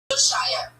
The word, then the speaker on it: ViralRabbi: Okay, how do you pronounce ViralRabbi? ViralRabbi.